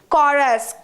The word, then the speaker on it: chorus: me tell you that it is not sure us it is chorus chorus not Joy it's not Choy it's Kaw chorus I hope you got